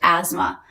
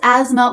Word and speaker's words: asthma: Being around smokers affected her health and she developed asthma. That's asthma with a silent TH.